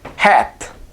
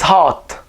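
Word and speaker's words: ϩⲁⲧ: see the city so you would be under the impression to pronounce this as hat right because you see h a t and you think hat no however in coptic it's hot and hot means silver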